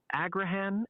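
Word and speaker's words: Agrihan: It's pronounced Agraan and Anatahan.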